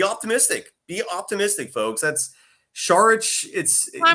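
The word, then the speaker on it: Šarić: it's Saric. Yeah, you pronounce his Yeah, last it's name Saric. with a yeah, with an SH, even though it's just S. Yeah, it's Yeah, proper Saric.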